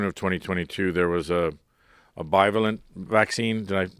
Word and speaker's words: bivalent: I mean, one of the things was in June of 2022, there was a bivalent vaccine. Did I pronounce that right?